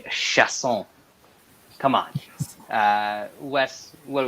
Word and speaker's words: Chiasson: I say this every fight, but why do people pronounce this Chiasson? I mean, be cultured, people. Have a little respect for the words coming out of your mouth. It's Macy Chiasson.